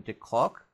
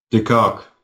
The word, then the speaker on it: de Kock: Quinton de Klock? De Kock. De Kock.